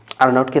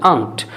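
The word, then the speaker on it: aren't: আর নটকে তাহলে আর্নট, আর নটকে আমরা বলবো আরেন্ট। এইভাবে উচ্চারণ না করে আপনি উচ্চারণ করবেন আন্ট। অনেকটা আন্ট, AUNT, আন্টের মতো কিন্তু শোনা যাবে।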